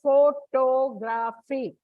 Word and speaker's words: photography: and that's why it comes before o likewise photography word and comes on the second syllable now the last is stress stress shift